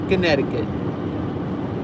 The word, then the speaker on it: Connecticut: on my way to connecticut or as it's spelled get connect to cut connect i-cut connecticut it's like you skip the c you skip the second c the convention this